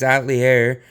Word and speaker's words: Atelier: added in three Atelier as I was told by uh the sunshine this is the way to pronounce that as atlier added an atlier or something along I'm sorry my pronunciation is probably bad and that Alchemists of